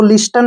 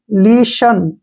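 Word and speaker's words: listen: एस टी ई एन इसको लिस्टन नहीं पढ़ेंगे क्योंकि टी ई एन इकट्ठा आया है तो टी का उच्चारण नहीं करेंगे इसको पढ़ेंगे हम लीशन क्या पढ़ेंगे लिशन ठीक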